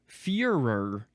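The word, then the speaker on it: furor: Next is furer. Uh so this is spelled f u r o r. Furer. Sounds very similar to the uh word that we had recently about um you know a tyrant basically.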